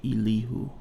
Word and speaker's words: Elihu: Then we got the pronunciation key. Elihu. So his name is Elihu.